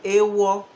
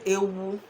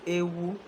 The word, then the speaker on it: ewu: It is supposed to be ewo, but then they've been influenced by fancy over time. So now they say ewu. So we will not say ewo, but we'll say ewu.